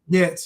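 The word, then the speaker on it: Goetz: yeah, I think it's pronounced Getz, maybe. Getz, yeah, Bernard Getz.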